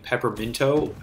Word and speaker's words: Pepperminto: And I just say it's the word peppermint with an O at the end.